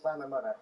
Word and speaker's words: Llanymynech: Villagers in that village, it's called Llanymynech, isn't it, will be cheering on both sides, I guess.